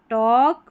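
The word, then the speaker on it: talk: ए एल के को ओ पढ़ते हैं। अब क्योंकि ए को तो अ पढ़ा और एल साइलेंट है। टॉक वॉक चॉक सी एच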